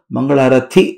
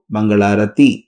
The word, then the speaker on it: ಮಂಗಳಾರತಿ: ಸರಿಯಾಗಿ ಉಚ್ಚಾರಣೆ ಮಾಡಕ್ಕೆ ಆಗ್ತಿರ್ಲಿಲ್ಲ ಆಕೆ ಅದನ್ನ ಮಂಗಳಾರಥಿ ಅಂತಿದ್ಲು ನಾಲ್ಕಾರು ಸಾರಿ ರಾಜರತ್ನಂ ತಿದ್ದಿ ತಿದ್ದಿ ಹೇಳಿದ್ರು ನೋಡಮ್ಮ ಮಗು ಅದು ಮಂಗಳಾರತಿ ಮಂಗಳಾರಥಿ ಅಲ್ಲ ಅಂದ್ರು ಕೊನೆ ತಾಲಿಮ ಇತ್ತಲ್ಲ ತಾಯಿ